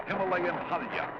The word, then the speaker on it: Himalaya: a British voice say Himalayas there are some locals who say it that way but the majority say Himalaya and it's usually singular not plural Himalaya not Himalayas so both pronunciations are correct in reality there's a